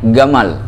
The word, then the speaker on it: Jamal: Jamal, ada nama orang Jamal, itu bukan Jamal dipanggilnya, Gamal. Itu Ustadz Gamal itu yang kemarin kita itu asal kalimatnya bukan Gamal, itu Jamal.